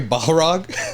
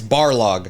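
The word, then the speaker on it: Barlog: Oh, I said Cory Baharog. I mispronounc. It's Barlo.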